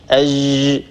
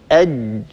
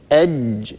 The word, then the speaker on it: ج: يعني الآن معظم الناس نسمعهم يقولون أج، هذه ليست بجيم فصيحة، هذه جيم عامية. إنما الجيم الفصيحة هي هكذا أج أج، هكذا ينحبس الصوت عند النطق بها.